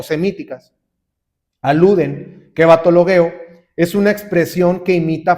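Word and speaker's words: βαττολογέω: En esta palabra de vanas repeticiones o hablar solo por hablar, sí se traduce así, pero el originario que es el griego coiné se pronuncia batologueo.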